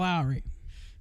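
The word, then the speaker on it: Lowrey: name is Mike Lowry that's how they say it too Michael Lowry like uh like a the seasoning the the gravy and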